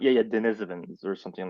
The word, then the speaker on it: Denisovans: yeah, I will wager it's pronounced, yeah, Denisovans or something like that. Denisovans, yeah, that's right.